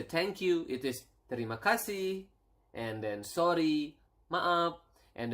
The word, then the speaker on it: terima kasih: It is terima kasih, and then sorry, maaf, and then we have